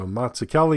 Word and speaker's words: Mazzucchelli: The MAZZ is like pizza, so we all know pizza, and the UCCH is like zucchini. We know zucchini, so Mazzucchelli is like pizza zucchini there.